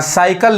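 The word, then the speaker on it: cycle: जैसे एग्जांपल में यहां साइकल लिखा है तो जो पहला सी है वो स पढ़ा रहा है और ये जो सी है वो क पढ़ा रहा है यानी साइकल तो क्यों पढ़ाता है यही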